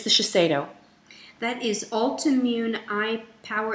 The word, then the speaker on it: Shiseido: How do you pronounce it, Jess? Shiseido. It is Shiseido.